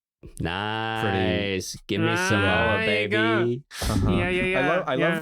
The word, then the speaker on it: Samoa: He's gonna have to go to and the the movie really wants you to know that the endmic pronunciation is Samoa. Welcome to Samoa.